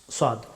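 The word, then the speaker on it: ص: সু আস স আস সদ হরফটি মুখ ভর্তি করে উচ্চারণ করতে হয় দ হরফটি উচ্চারিত হয়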